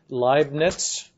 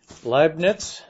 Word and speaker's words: Leibniz: I'm not a fluent German speaker or anything like that, but I understand you pronounce this Leibniz, even though it's maybe spelled slightly different. Leibniz.